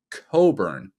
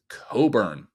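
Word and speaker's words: Cockburn: c k bun yes our neighbors to the north pronounce that as Coburn and that is why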